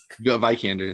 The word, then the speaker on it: Vikander: You're pronouncing that? Yeah, I can't. Vikander. Vikander.